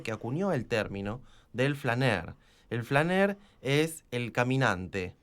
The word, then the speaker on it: flâneur: El poeta francés, el simbolista del siglo XIX, que acuñó el término del flâneur.